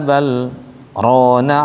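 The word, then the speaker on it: بل ران: Lam ketemu ra harusnya idgham mutaqaribain. Wa qul rabbi dibacanya wa qur rabbi zidni ilma. Tapi khusus untuk di sini harus saktah. Biar apa? Biar kalimat ron terbaca ron jelas.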